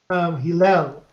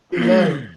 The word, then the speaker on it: Hillel: It's actually Hillel, but I'm not counting it against Rick because even I can't say my name right over here. So how is it pronounced again properly? Hillel.